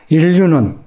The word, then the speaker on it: 인류: 가는 것을 진화라고 이야기합니다 인류는 사람 사람의 모든 것을 다 합해서 이야기할 때 인류라고 해다 모든 사람들을 합했을 때 인류 인류라고 쓰고 읽을 때는 일류라고 읽죠 턱 턱은이 밑에 있는